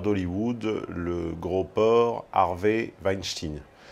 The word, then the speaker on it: Weinstein: porc harvey vine chine oui d'ailleurs ça se prononce comme ça en tout cas pour ceux qui me font des remarques la via les réseaux sociaux sur ma prononciation de leur patronyme et bien sachez que chez eux ils le prononce il le prononce comme ça enfin chez eux chez eux à hollywood alors à l'époque un